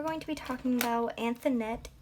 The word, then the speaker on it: Anthonette: to be talking about anthonette k dito i believe is how you pronounce it and i always want to say antoinette but it's not it's anthonette she was born on